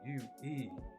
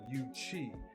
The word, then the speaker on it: Yuezhi: the ancient Chinese were the UZ, pronounced Yuezhi, or Yuchi, which translates to Western Barbarian, aka Conan the Barbarian.